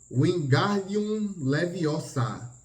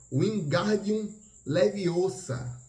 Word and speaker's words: Wingardium Leviosa: É Wingardium Leviosa. O gar é bem pronunciado e longo.